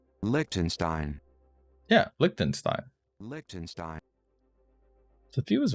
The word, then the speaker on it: Liechtenstein: Pronunciation. Liechtenstein. Yeah, Liechtenstein.